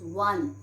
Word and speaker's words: one: example we can take we never pronounce on what do we pronounce we pronounce one and one is starting with w o is starting with